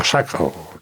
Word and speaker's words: Oaxaca: Le han dado el título de marqués de Oaxaca, de Oaxaca, es que pronunciado así.